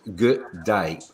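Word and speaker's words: G'day: the correct way to say good day is good day but say it quicker good day good day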